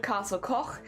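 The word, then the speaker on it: Castell Coch: South Wales specifically it's called Castle Co which is spelled Castel so c a s t e l l Castel Co which is c c h and uh I do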